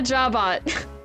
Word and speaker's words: jabot: ends with a T French words hate pronouncing T's at the end of their words I think with e